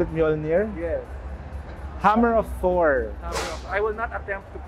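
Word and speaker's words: Mjölnir: Mjolnir, do you call it Mjolnir? Yes. Hammer of Thor. Hammer of I will not attempt to pronounce the Swedish line, but this is Hammer of Thor LED headlamp.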